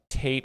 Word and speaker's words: Tate: Tate rhymes with hate.